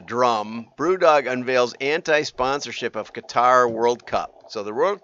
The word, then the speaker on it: Qatar: Okay, so, and the World Cup is being played in Qatar, is how I've been told it's pronounced.